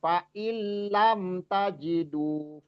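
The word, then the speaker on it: فإن لم: Jadi jangan sampai dibacanya faillam kelamaan ditekan aja faillam tajidu fainnallaha gfurur rahim. Faillam tajidu. Jangan sampai faillam. Jadi jadi enggak ada ghunah di situ lamnya.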